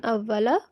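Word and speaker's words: أَوَّلَ: Okay, so when I think when reciting, you paused on awwala. So when pausing, this fatha on lam changes into a sukoon. Okay, so if Oh, you okay, so it becomes awwal.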